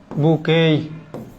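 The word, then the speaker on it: bouquet: এই যে আমরা যে বলি এ বুকে অফ ফ্লাওয়ার, বুকেই, টি এর উচ্চারণ হবে না, বুকেই অফ ফ্লাওয়ার্স, ফ্লাওয়ার্স বা রোজেস, মানে আপনাদেরকে বোঝানোর জন্য।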